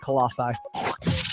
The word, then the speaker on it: Colossi: It's pronounced Colossi.